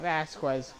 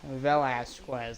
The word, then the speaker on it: Velasquez: Not Velasquez, Velasquez. That's how you pronounce the Vegas first last name.